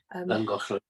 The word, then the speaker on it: Llangollen: And I think one of the places we used to go was Llangollen, or Llangollen. Llangollen. Yes. Thank you, Uncle Bernard. Sorry, I butchered that.